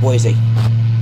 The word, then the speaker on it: Boise: feel good boise that's how you say it boise avoids boys let's go boise departure november